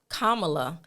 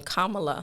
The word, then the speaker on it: Kamala: we want to give kamla I try to say her name Kamala look she made sure